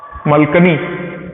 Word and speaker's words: मलकानी: गांधी जी को एक मलकानी नाम के एक और, मलकनी और मलकानी प्रोनाउंसिएशन का डिफरेंस है, प्रॉपर नाउन है, तो मलकानी साहब के यहाँ उन्हें टिका दिया।